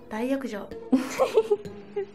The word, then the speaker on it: 大浴場: 大浴場大浴場でございます。こちらは男性の大浴場です。